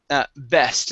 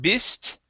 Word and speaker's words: best: And the last one here is best. Instead of bist, okay, use a short E sound here. Best.